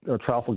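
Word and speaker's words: Trafalgar: Uh for example uh Travolgar uh Traffar we call it pronounce it here on the shore.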